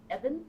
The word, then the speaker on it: Ibn: And you pronounce it Eben? Yes.